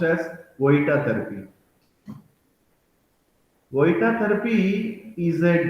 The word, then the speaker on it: Vojta: is spelled as virgita therapy but it is pronounced as koita therapy oita therapy is a dynamic neuromuscular treatment